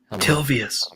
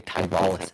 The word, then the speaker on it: Tilvius: Tilvius. Tilvius. I want to say Tyvalis so bad.